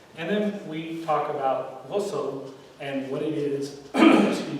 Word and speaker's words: ghusl: which one? Ghusl? Whistle? Ghusl. Ghusl. Oh, Sorry, it's got that zang, it's got that.